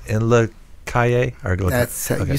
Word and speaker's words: Calle: heard of the paper right it's and look Calle or do that so you said it right